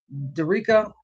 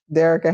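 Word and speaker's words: Dearica: You got you got Plum, you got NECA, you got uh Dica. What's that ain't how you say her name. You got Derek. Derkica. Dererica Handy.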